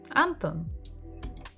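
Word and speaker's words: Антон: or is it anthem Anton again second syllable everything is on the second syllable a third visit for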